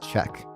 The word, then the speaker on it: Ccec: a series of, oh, it's pronounced check, by the way.